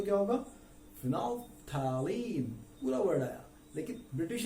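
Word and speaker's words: phenolphthalein: Fino, L silent हो गया, TH silent हो गए दोनों, L भी साइलेंट, TH भी साइलेंट, बचे क्या? फिनो, PH फॉर एलीन, फिनोफैलीन। तो क्या हो गया? फिनोफैलीन। फिनोफैलीन इज the pronunciation in British English.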